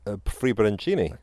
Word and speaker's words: Friebe: I believe it's pronounced Friebe. No, can't go wrong with that. That's the Italian iteration.